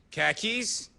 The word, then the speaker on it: khakis: The word is spelled Kahkeez. So let's listen in. Welcome to Boston as a second language. Khakis, khakis, khakis, khakis.